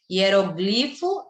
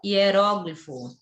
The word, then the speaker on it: hieróglifo: atenção a palavra corrente tem dupla pronúncia por exemplo hieróglifo hieróglifo Então as duas formas estão corretas Oceania e oceânia as